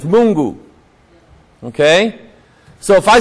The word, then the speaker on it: Mungu: yasu okay um I know how God is pronounced it's mungu okay so if I say mungu and I'm